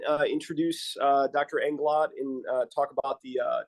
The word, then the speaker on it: Englot: as our and Dario and my can you pronounce your last name for me just to make sure I'm saying it right sure englot englot okay Dario englot great thanks Dario uh